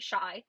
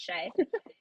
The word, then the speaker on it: Shai: I always pronounce I want to pronounce it Shai every time and it's Shay and I think it's because it's SGA and